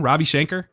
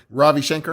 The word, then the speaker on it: Ravi Shankar: his shanker how do you say his name robbie shanker yeah yeah ravi shankar yeah but just a whole bunch of people